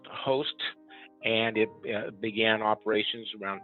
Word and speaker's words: HOAst: is uh h o a s t it's pronounced host and it began operations around 2013.